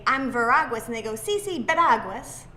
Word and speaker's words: Veraguas: And so I have with me today Randy Veraguas. Did I get it right? It's funny, I say Veraguas. Veraguas. Yeah, but I was in Spain, it's a Spanish name, and I would say, I'm Veraguas, and they go, sí, Veraguas.